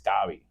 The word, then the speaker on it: Gabi: It's but and then people are like Gabby, like no, it's not Gabby, it's Gabi. It's different. It's like God.